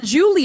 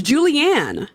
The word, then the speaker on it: Julianne: pronounced it right and it's not Julie it's Julianne okay Julianne thank you for